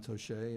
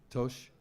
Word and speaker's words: Toche: And even crazier, like manifesting the splinter groups, Jean Tochet, if I'm pronouncing his name right. I mean, Tosh. The E is silent.